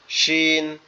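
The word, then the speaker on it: ش: আর শিন হচ্ছে দুই দাঁতের পার্টি একসাথে লেগে থাকবে। সিনটা এভাবে হবে। সিন সিন সিন আর শিনটা হবে সিন শিন শিন এভাবে।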